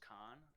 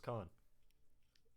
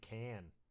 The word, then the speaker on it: Caan: I didn't know that was how you pronounce his last name. Yeah. Like, I was always saying can.